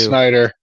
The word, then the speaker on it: Snyder: Snyder. Zack Yeah, Snyder. they are. It rhymes.